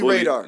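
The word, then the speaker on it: Raadr: So this is called Bully Radar. The Bully Radar. Yeah, app. Bully Radar. And radar is spelled R-A-A-D-R.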